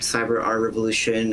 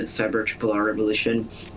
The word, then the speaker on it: CybeRRRevolution: sure like it's like do you pronounce all the RS at the same time or it say like cyber Tri R Revolution or cyber R Revolution I will accept cyber R Revolution cyber Tri R Revolution